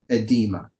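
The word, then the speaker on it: oedema: oddball one this is edema starts with an O but it's like the O is silent edema edema is like a blistering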